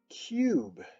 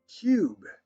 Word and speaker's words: cube: o robe as well and other ones like cube cube it has that silent bossy e and that u says its name other words like time